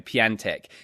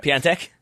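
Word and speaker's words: Piątek: to pronounce his surname P antic mate always makes me think of someone who repairs pianos like a piano tech yes I remember it P antic hey get a pen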